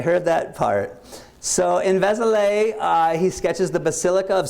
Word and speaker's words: Vézelay: Who knows if I'm pronouncing that one correctly? Do you get any word on that one? Vézelay.